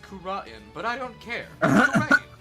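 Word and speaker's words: Kurain: Well, Your Honor, supposedly it's pronounced Kura'in, but I don't care.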